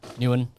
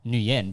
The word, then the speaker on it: Nguyen: meant to be pronounced Nguyen, but obviously, you know, it's Vietnamese pronunciation versus an English pronunciation, Yeah.